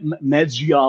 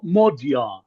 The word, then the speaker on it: Magyar: or whatever but actually it's funny that the the letter g uh is pronounced d uh with a d sound and the letter a is pronounced as o unless it is accentuated. Really? it sounds here it sounds Mo Mo Mo Jar Mo Jar That's that's what his